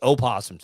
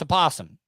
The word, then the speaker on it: opossum: hate when people say opossums that's a possum the o is silent but they're the only